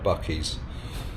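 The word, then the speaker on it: Buc-ee's: Oh, and also one thing that I didn't mention, shout out to Bucky's.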